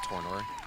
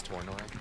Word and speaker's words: Tornor: I'm for the pronunciation, but it's Tornor. What is it? It's Tornor.